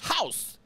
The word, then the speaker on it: Hause: How do you pronounce that? House.